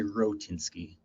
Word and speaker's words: Rohatinsky: it correctly but so so I say tinsky um most people just say rinsky just make a little bit easier three syllables and that is exactly